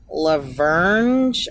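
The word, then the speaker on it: La Vergne: So we're going to go to Laverne. I think that's how you say it. Or Laverne. I say Laverne, but it's spelled like Lavergne.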